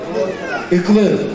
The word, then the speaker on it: ıklığı: Iklığı, yumuşak geyle, ıklığı sazının yaşayan son temsilcisi.